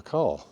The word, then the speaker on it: Kerr: today and that is of course Deborah car now you might be thinking who the hell